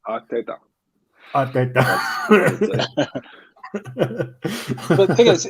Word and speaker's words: Arteta: It's pronounced Arteta.